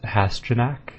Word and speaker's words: Hasjanak: If you just sound it out, it's Hasjanak, and that's how it's pronounced, so that's not so bad. It just looks really daunting.